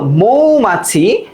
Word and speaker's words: মৌমাছি: আচ্ছা, তো ময়ের সাথে যখন ও যুক্ত হয় কিভাবে হয় বলতো? ময়ের সাথে ও যুক্ত হলে এইভাবে হয়, তাই না? মৌ, তারপর কি বলতো? মা, তারপর কি বলতো? ছি, মৌমাছি।